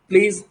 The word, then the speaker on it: plays: So the next is, even if you're good at grammar and your vocabulary is strong, yet your pronunciation plays a vital role. That place is wrong. It's PLAYS.